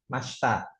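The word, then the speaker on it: ました: Masta itu enggak dibaca ya. Kalau dieja emang masita tapi dibacanya masta.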